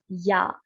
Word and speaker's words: 야: Whenever there is double lines anywhere, this means that the sound begins with Y. So this becomes ya.